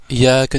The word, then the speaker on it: إياك: Ce n'est pas Iyyaka na'budu, Iyyaka na'budu. Non, prends le temps. Prends le temps de prononcer toutes les lettres. Iyyaka na'budu wa iyyaka nasta'in. Pourquoi? Comme tu harakat shadda sur harf liya.